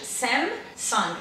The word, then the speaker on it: Samsung: Eles terminam, fecham a boca no M, que é muito importante, Samsung. Então o certo, gente, é falar o M, né, fechar bem a boca, Samsung.